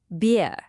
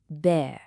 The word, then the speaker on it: bear: Beer. Again, that's incorrect. Beer. The correct vowel sound is actually more open. It's the same sound you hear in words like air or care.